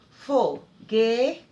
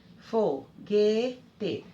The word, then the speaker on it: foguete: Paroxítona é quando a penúltima sílaba é a mais forte. Por exemplo, foguete, foguete. Dou destaque para o G.